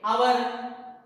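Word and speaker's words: hour: When we say our, honest, we are not using H as a H becoming silent and supporting the sound O.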